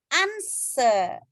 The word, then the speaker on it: answer: Nah, answer berarti ada silent letter W ya. Itu nggak dibaca.